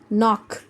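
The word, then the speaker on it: knock: आपने क्या करना है कि K को साइलेंट कर देना है, यानी K को नहीं पढ़ेंगे हम, will only pronounce as knife, कनाइफ नहीं कहेंगे, नाइफ चाकू, नी घुटना, नॉट गिट्ठा या गांठ, नॉक खटखटाना, ठीक है, K साइलेंट हो गया।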